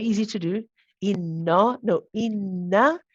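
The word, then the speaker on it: إِنَّ: And if you get used to saying that, inna, inna, you know that's, you become familiar with that sound of the na and know that you've got to pronounce that same one.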